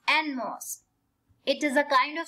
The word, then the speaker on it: NMOS: It is pronounced as ENNMOSS, NMOS.